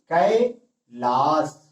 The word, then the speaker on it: कैलाश: में भी सही है, लेकिन यहां पे जब उच्चारण होता है सा का, तो ये दंती सा है, लेकिन दंती सा नहीं, यहां पे तालव्य सा आ रहा है। जैसे कैलाश।